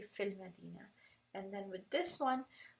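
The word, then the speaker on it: فِي الْمَدِينَةِ: see fee and Medina you're just when you're pronouncing you're not gonna say fee and Medina say fill Medina and then with this one I'm quite sure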